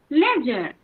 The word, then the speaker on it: ledger: can also say that if after D there is G then D will remain silent.